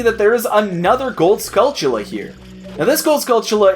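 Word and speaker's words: Skulltula: just can't seem to agree on how it's pronounced I say scula because the word is very clearly a pment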